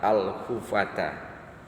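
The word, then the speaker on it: الحفاة: Sabda beliau sallallahu alaihi wasallam, wa antaral hufata, dan bahwasanya engkau akan melihat al-hufata bidomil ha'il muhmalati, dengan doma ha yang tidak bertitik, ha hu ya, nggak pakai titik, dibacanya doma.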